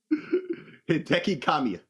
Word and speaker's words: Hideki Kamiya: I said his last name wrong. Damn. Let me be country. So, this man, say his name again, please. Hideki Kamiya.